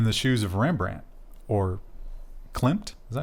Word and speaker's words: Klimt: And Krista, I would say put yourself in the shoes of Rembrandt or Klimt. Is that how you pronounce his name? Klimt, yeah.